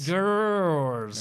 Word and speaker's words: Grrrls: Yes, Riot Girls of Wrestling.